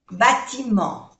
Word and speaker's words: bâtiment: La voiture est garée, no se pronuncia esta E, garée devant le bâtiment. Otra vocal nasal, en, no se pronuncia la T, bâtiment, le bâtiment.